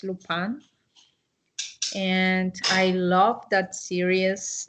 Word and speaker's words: Lupin: is called um lupan lupin is in french this is the spelling but as is french the pronunciation is lupan and i love that